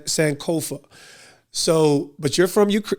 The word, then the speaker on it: Sankofa: do you say your last name sanova s sanova so but you're from UK Ukraine you know